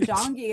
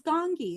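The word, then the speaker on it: Gong Yoo: you're you're jongi, and they're like, "Mommy, it's not jongi, it's gongi."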